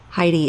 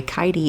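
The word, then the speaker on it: Keidi: choose your shots carefully Heidi is sorry kidi is safe off the tea she told me that's how to pronounce her name Heidi with a K yep Missy safe off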